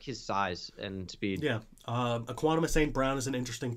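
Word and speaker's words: Equanimeous: It's Equanimous? Equanimous, yeah. Oh. Well, I've been pronouncing that wrong for years.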